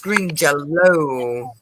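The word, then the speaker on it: Green Jellÿ: uher jger yeah he plays for Green it's pronounced green yell belly but they have to spell it green jelly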